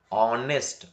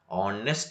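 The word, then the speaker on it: honest: For example, ಆನೆಸ್ಟ್, ನಾಟ್ ಹಾ ಅಂತ ಉಚ್ಚಾರಣೆ ಮಾಡಬಾರ್ದು. ಯಾಕೆಂದ್ರೆ ಇಲ್ಲಿ ಎಚ್ ಏನಾಗ್ತಾ ಇದೆ, ಸೈಲೆಂಟ್ ಆಗ್ತಾ ಇದೆ. ಆನೆಸ್ಟ್ ಅಂತ ಹೇಳಬೇಕು.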